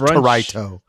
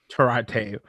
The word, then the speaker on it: El Torito: El Torito, and it's pronounced Torito. Excuse you. Torito.